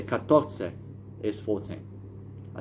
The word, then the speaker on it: catorce: I mean 14 you say cuarce. I mean it's really 14 is catorce.